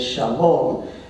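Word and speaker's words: שלום: the Arabic pronunciation is Salam uh the Hebrew pronunciation is Shalom and usually understood as peace but it means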